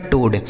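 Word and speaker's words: toad: से हो गया दोस्तों ट ओ ए का उच्चारण ओ की मात्रा डी से हो गया ड यह लिखा गया आपका टोड ठीक है ना तो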